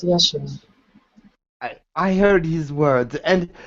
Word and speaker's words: Yeshua: I just heard the words of you pronounce it Yeshua? Correct. Yes, Yeshua.